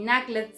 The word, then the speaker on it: Knuckles: Por ejemplo, dentro de los personajes que trabajamos estaba Knuckles, y Knuckles se escribía NU, pero se pronunciaba NA porque es una palabra que viene del inglés.